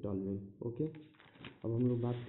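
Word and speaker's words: toluene: Spelling उतना मत देखिए आप लोग, इसको बोलते हैं टॉल्यूइन।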